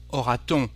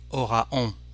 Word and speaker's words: aura-t-on: Again, aura-t-on? We need a T instead of saying aura-on, which is actually a bit strange for a French speaker.